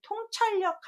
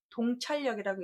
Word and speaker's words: 통찰력: 밝을 통자는 통한다라고 해서 통찰력 할 때는 동찰력이라고 읽지 않고 통찰력이라고 읽고요. 또는 통달하다라는 말 우리 많이 쓰는데 달자를 통달할 때 똑같이 쓰는데 여러분이 아시는 통할통도 맞고요.